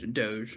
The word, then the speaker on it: DOGE: And then like the whole thing with the how do you even pronounce it? The Yeah, it's Doge.